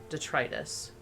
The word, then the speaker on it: detritus: end inside her mind I think the emphasis goes on the middle syllable detritus detritus detritus detritus that sounds right that sounds that sounds